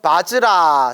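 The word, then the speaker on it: वज्र: 그래서 바라는 바즈라, 산스크리트 바즈라가 원래 발음이고 금강이라고 한문으로 표기한답니다.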